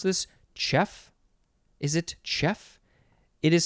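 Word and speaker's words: chough: i don't know anyway it says it's pronounced chef noun from uh the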